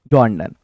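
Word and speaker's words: John Donne: पहला सवाल, when was जॉन डन born? इसकी प्रोनाउंसिएशन में बहुत सारे स्टूडेंट्स को प्रॉब्लम होती है। कोई डोने, डॉने, डन, डॉन कुछ भी पढ़ता है, बट the correct वन इज जॉन डन।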